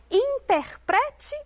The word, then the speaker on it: interprete: Eu quero que você interprete o texto. Aqui, interprete tem a penúltima sílaba tônica.